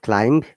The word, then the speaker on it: climb: Then climb, not climb, climb, okay, climb.